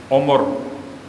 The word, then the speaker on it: عمر: ہے۔ ارذل العمر، کیونکہ ہمارے اردو کا تلفظ عمر ہے، اور یہاں استعمال ہوا عمر، عین پر بھی پیش ہے اور میم پر بھی پیش ہے، عمر۔ اور تم میں سے